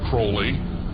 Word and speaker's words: Crowley: He likes to have his name pronounced Crowley to rhyme with holy.